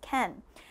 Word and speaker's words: can: sing you can sing reminding you that ken okay it's pronounced ken let's go on to